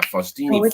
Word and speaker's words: Faustini: I think I said it wrong last time. I said Faust, but yeah, Faustini Farms. It's either way.